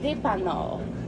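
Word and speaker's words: Dépanord: It's a play on word for a what's it called? Dépanneur in French is like the gas station. Oh, okay. So it's kind of a play on word with Nord at the end.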